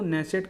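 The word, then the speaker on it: Knesset: तो इजराइल की संसद को नेसेट कहा जाता है, द नेसेट के इसमें साइलेंट है।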